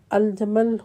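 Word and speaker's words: الجُمَّل: اونٹ کو کہتے ہیں، اور الجمل حرف جیم پر پیش اور میم پر شد کے ساتھ موٹے رسے کو کہتے ہیں۔ ابن عباس کی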